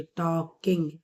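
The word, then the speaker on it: talking: के आई एन जी टॉकिंग एल इसमें silent है मिस्टर लयन केव्स डू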